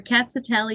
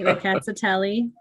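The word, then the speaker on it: Rkatsiteli: But now you all, for Ricatatelli, you pronounce every letter. You can remember our cats are smelly. Our cats are smelly, Ricatatelli. And that's a good way to remember it.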